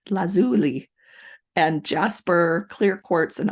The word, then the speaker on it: lazuli: to look this up how to say it lazuli lazuli and Jasper clear quartz and aqua aquamarine to